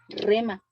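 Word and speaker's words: rhema: y es la forma en que viene el rema de Dios a nuestras vidas. ¿Qué es un rema? Bueno, un rema viene de la palabra griega, rema, ¿verdad? Es con H-R-H-E-M-A, rema.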